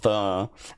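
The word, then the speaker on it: phở: Uh it is pronounced fur and is a popular uh Vietnamese noodle soup consisting of broth, rice noodles, herbs, meat.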